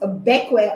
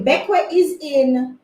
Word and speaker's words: Bequia: I think it's pronounced Bequia. At least that's what Google says.